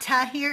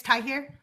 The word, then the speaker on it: Tahir: It's not Tah here. It's Tai here.